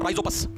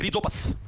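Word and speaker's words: Rhizopus: ो बोलते ो बोलते स्पेलिंग गलत होती रिजो एच आएगा एच आएगा भाई रिजो पस राइज बोते रिजो बोलते हैं कैसे बोलो रिजो पस भाई ये इंपोर्टेंट क्यों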